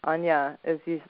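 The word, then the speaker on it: Áine: But also in the Celtic tradition, there's Ayn or Anya, who's the solar goddess, and Anya it's spelled Aine, but she's a very ancient.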